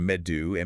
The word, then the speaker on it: medu: Or beorn B E O R N for warrior and medu me- du for me the honey wine they drank.